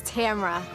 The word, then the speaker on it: Tamara: And the correct pronunciation of my name is Tamara.